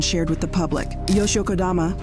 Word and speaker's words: Kodama: Yoshio Kodama, pronounced Kodama, is one of the most powerful men in Japan.